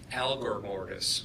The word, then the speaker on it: algor mortis: be relevant to determining time of death is algor Mortis correct algor mortis a-l-g-o-r what is that that's